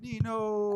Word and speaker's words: Nino: I read it that's how I read it Nino hey for people who know me you already